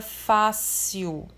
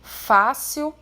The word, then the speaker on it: fácil: Então, por exemplo, a palavra fácil é um exemplo de paroxítona, porque a sílaba mais forte é a penúltima, é a sílaba acentuada, aqui no caso, fácil.